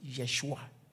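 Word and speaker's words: ישוע: So for instance, when we say Joshua in the Hebrew, is actually Yeshua, not Joshua.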